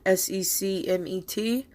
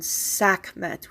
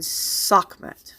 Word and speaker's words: Sekhmet: Technically, that's not correct. The pronunciation would have been Sekhmet with an A. That is the proper way you would have pronounced the first glyph of her name, Sa, S-A. You hear it sometimes in my chants and stuff, Sa, Sekem, Sahu. It's Sa. So it would have been Sekhmet, not Sekhmet.